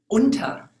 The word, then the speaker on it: unter: So for example, the German word for under, unter, is pronounced differently from the U with the dots over it for the word over, über, unter, über.